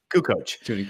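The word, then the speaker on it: Kukoč: Kukoc.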